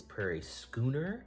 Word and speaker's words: Prairie Schooner: So, uh, the day after I shot this video, I looked up how to pronounce it, and it is Prairie Skooner.